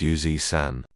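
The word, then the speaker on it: 油纸伞: The character for umbrella is Sun-san, pronounced San, and the oiled paper umbrella is called Yoji-san, pronounced Yuzi-san.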